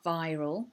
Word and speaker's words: viral: of that hard feeder viral so you need to bite your bottom lip when you say it viral infection such as